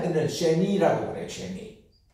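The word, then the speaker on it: שני: 2, 둘이다 이런데 두 번째 할 때는 쉐니라고 그래요.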